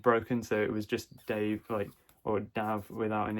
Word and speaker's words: Dav: And by the way, yes, if you notice, the author's name is Dav Pilkey. It's Dave spelt without an E.